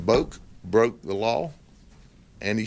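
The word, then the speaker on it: Boek: i don't know boc b-o-e-k that's polk county pronunciation so that that's that is subject to modification by someone who may have a different interpretation be in the family but we call him boat johnson boak broke the law and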